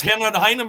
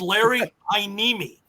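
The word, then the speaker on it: Larry Heiniemi: Well, but uh I they sure butchered Larry Haneimi's name. I don't know what the hell they said. It was hang on or something, you know, but it's Larry Haneimi.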